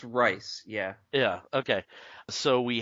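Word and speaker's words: Reis: Yvonne Rice? Oh, Steve, we pronounced it right once, didn't we? It's Rice, yeah.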